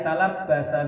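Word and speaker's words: تلبّس: Ai talabbasa bil haji. Itu talabbasa ya, bacanya ya. Talabbasa, berpakaian sepeman bil haji, untuk berhaji, awil umrati, atau umrah.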